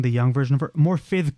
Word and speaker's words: Morfydd: Morfydd Clark is how you pronounce it, because I think her name is Welsh.